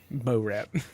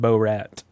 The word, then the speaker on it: Borat: Bo Rat. Not to be Well- confused with Bo Rat. Yeah. Not close enough. That's Definitely. Borat. Oh, it's Borat. Sorry. You got to pronounce it right.